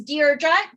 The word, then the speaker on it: Deirdre: My name is Deirdre, just like you're writing a letter, Deirdre. Most people pronounce it wrong.